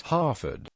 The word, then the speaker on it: Haverfordwest: English heer equals heer in local dialect it is pronounced Harford the Welsh language name